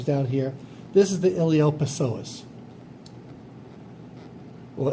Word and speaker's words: iliopsoas: This is the iliopsoas. Or iliosoas. The P is silent, like in Psalms.